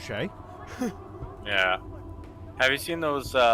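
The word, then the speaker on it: Skjei: Yeah, that's an S, a K, a J in a row. So that's a note from me. Somehow that's pronounced Shay.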